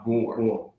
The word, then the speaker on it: Gbor: It's actually pronounced Bor.